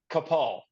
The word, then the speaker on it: Capal: You guys have not said it wrong. It's Kapal.